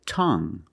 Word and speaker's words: tongue: we have this word tongue the UE at the end is silent so we pronounce it like young tongue you have only the nasal sound there's no G it's just a sound